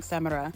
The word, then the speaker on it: Samara: Finally made it to Samara. I think I was saying it wrong. Samara.